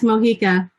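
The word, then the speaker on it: Mojica: joining us uh is your name pronounced mohica yes mohika wonderful welcome thank you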